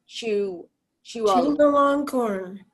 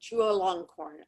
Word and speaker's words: Chulalongkorn: How do you pronounce this? Anybody know? Chulalongkorn. Okay, Chulalongkorn.